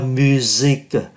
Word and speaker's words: musique: La musique, chúng ta cũng để ý S đứng giữa hai nguyên âm, phát âm là Z.